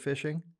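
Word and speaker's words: phishing: people have heard of fishing um it's spelled pH I don't know why but uh but um basically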